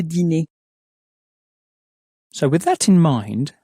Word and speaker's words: dîner: Again, make sure to pronounce the dinner as. Le dîner.